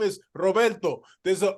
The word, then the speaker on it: Roberto: And I'm like, hey, my name is Roberto. There's an O at the end. And yes, you should try to roll your R because my name is Roberto, Yeah. not Robert, not, not, Roberto.